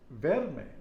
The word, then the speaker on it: verme: So M-E is pronounced May, like the month of May.